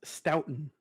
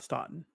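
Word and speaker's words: Stoughton: It is pronounced Stoutton, not Sten.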